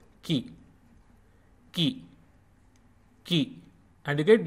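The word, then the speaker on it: कि: And it is pronounced like Ki in kick.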